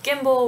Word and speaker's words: gimble: the words pronounced um particularly with the hard g's on guyer and gimble with the slithy is